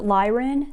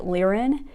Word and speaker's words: Lyran: Some people pronounce it Lyran, some people pronounce it Lyran. Either way is correct, so just go with whatever feels more comfortable for you.